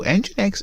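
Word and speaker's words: NGINX: like that so I always get this uh name wrong so engine X is simply a web server them a reverse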